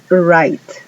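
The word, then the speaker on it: write: Luego tenemos right. Ahí la W no suena.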